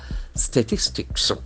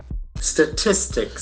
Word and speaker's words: statistics: so St St statistics that falls in the second syllable statistics so it ends